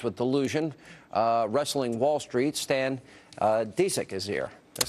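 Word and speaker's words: Stan Dziedzic: Stan Disick is here.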